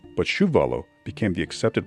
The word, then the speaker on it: Chuvalo: name was originally spelled without the age and pronounced chuvalo but shuvalo became the accepted pronunciation over time his father